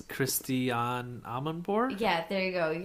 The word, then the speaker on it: Christiane Amanpour: A very famous news anchor, and I'm going to pronounce her name wrong, so Joe, you do it. It's Christiane Amanpour?